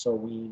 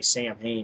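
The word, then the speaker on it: Samhain: Misfits and he did it's pronounced soen or whatever I say sam Hayne and I'm gonna continue to do it Sam Hayne then he did his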